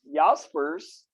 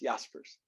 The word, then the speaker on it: Jaspers: you usually yeah uh most people pronounce it jasper's or jasper when they first see it uh but yeah it's german names so it's yah it's jaspers um but jaspers believes